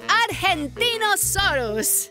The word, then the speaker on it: Argentinosaurus: Deo I'm the Argentinosaurus wao that is a big name for a big Dino I have to break it up to say it right R gen teen o s us that's me so I'm